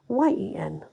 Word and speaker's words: Morgen: back in the day, in the 12th century, was pronounced Moryen. Geoffrey was collecting local stories from Wales and publishing them in France, and while he certainly didn't invent Moyen for his Viti Mellini,